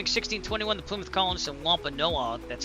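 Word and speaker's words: Wampanoag: The Plymouth Colonist and Wampa Noah. That's how you pronounce that.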